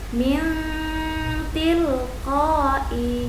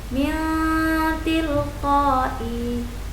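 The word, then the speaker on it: مِنْ تِلْقَاءِ: Harus dibaca berdengung dengan mendekati bunyi n, lalu suara ditahan 2 ketukan. Contoh, min tilqai. Nun mati bertemu dengan ta, dibaca samar dan berdengung. Min tilqai.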